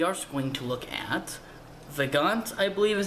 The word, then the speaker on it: Vagante: And we are going to look at Vagante, I believe is how you say it. I think it's French, so the E at the end wouldn't be pronounced.